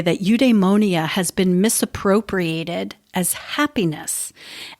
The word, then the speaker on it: eudaimonia: nickmachian ethics aristotle's concept of well-being was called eudaimonia that's spelled e-u-d-a-i m o n i a eudaimonia is a state of good spirit according